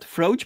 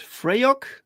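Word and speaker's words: Fraoch: I think I pronounced it incorrectly. I said Froach, but it's Freyok. They have these weird Scottish like sounds, Right.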